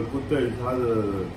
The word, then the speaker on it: Goûter: 然后它的发音跟英文的 good day 是一样的，是一样的发音。